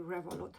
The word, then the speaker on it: Revolut: just like you hear Revolut, like revolution, Revolut.